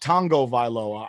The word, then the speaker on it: Tagovailoa: word his last name is is written as tagovailoa yeah he pronounces it tango viloa i'm like where is this n that you apparently see that's not there like yeah it's